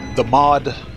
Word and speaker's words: Maud: I haven't done the mod. That's how you say her name, Maud.